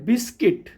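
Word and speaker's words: biscuit: जैसे है बिस्किट, BISCUI, तो U के बाद I आया, बिस्किट हो गया।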